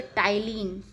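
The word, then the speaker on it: ptyalin: जिसे लार एमिलेज़ या टाइलीन पी से शुरू होता है पी टी वाई एल आई एन P silent होता है इसलिए टाइलीन पढ़ा जाता है इसे टाइलीन कहते हैं यह मंड मंड यानी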